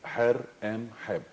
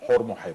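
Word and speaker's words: Horemheb: You have, for example, the king Her Em Heb, that you call Hormoheb.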